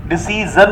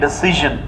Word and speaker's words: decision: डिसीजन नहीं है, डिसीजन.